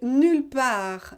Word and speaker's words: nulle part: Si je connais moi une fleur unique qui n'existe nulle part, nowhere, nulle part. And please don't pronounce the final T, please.